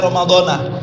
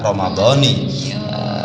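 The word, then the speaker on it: رمضانِ: saya garis bawahi disini banyak dikalangan kita membacanya Romadhona tinggi pada lincah betul adalah Romadhoni Kenapa karena sudah dibahas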